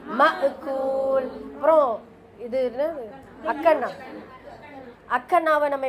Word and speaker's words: مأكول: மக்கூல் சொல்லாம மஅகூல்.